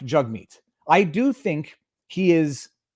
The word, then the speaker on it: Jagmeet: singh and his name his name is pronounced jug meat i have been pronouncing it improperly jag meat it is jug meat